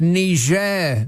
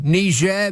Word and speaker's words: Niger: better luck next time it's pronounced Niger Mr President thank goodness he's not the president right now oh shut up an international incident could ensue Niger Mr President Rose Tex